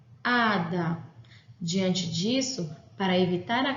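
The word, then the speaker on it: hada: E este HA é a sílaba tônica da palavra. Ada.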